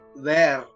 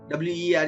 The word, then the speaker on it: were: So the correct pronunciation of this helping verb WERE is were. Even though it is written as WERE, it looks like where. It is not where.